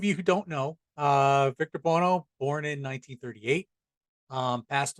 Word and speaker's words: Victor Buono: victor blana her vic my name is victor bono there you go victor bono that's how he pronounces it um and this